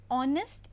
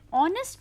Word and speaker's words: honest: example an R an honest man so here in an honest man the word h is silent hence the beginning sound of the word is an o sound which is a Vel